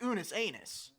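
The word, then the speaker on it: Unus Annus: It's pronounced Unus Anus.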